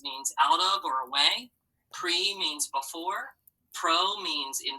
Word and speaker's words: pre: Remember, they have that long vowel sound because they're open syllables. Everyone say pre.